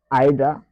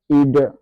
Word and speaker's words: either: Soit Aida comme la dame a l'habitude de dire et là c'est une prononciation britannique et nous avons ID qui est une prononciation américaine vous voyez donc voilà